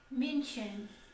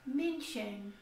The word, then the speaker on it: München: Mais especificamente para o século XIV, na região de Munique, na Alemanha, que se pronuncia München. A própria etimologia da palavra Munique, que é München ou München, que significa justamente terra dos monges em alemão.